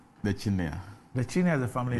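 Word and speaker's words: Chinnia: Here's the Honorable Amidu Hinia. Chinia Isahaku. Honorable, good morning. Good morning. So it's Chinia. It's Chinia. It's spelled with a C?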